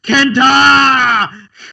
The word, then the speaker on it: KENTA: Kenta.